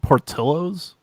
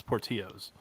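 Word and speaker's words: Portillo's: it looks like yeah it's spelled portillos but it's portillos yeah yeah gotcha um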